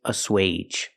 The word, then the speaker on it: assuage: the last word is a swage a swage is a verb and it has a long a sound for AG G age aage means to make